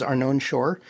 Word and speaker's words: Arnon Shorr: stuff that I do uh my name is Arnon Shore spelled a r n o n s h